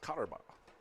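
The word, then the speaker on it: Koterba: Cotterbaugh is spelled K-O-T-E-R-B-A. Pronounced Cotterbaugh.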